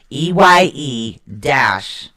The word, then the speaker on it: Eihwaz: It's spelled EIHWAZ, but it's actually pronounced EYE-WAWZ.